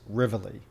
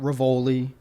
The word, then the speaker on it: Rivoli: It's Rivlli. Okay. It's not Ravoli. It's not Ravioli, which is how I went through school as Ravioli, but it's Rivlli.